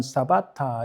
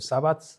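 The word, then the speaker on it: שבת: 영어 발음은 세버스지만은 사바타 이렇게 히브리어로 발음합니다. 사바트 이렇게 발음하고요.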